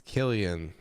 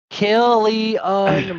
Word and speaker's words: Cillian: He's Irish. It's Killian. He's Irish. I like to say Cillian. Oh yeah, that's pretty close. Yeah. Killian Murphy.